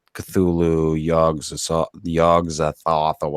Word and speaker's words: Cthulhu: had wrote down like how you're supposed to pronounce Cthulhu and it's not supposed to sound like that it's supposed to be two syllables I noticed that people